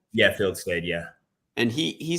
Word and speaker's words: Fieldstad: How do you pronounce it? Fieldstad? Yeah, Fieldstad.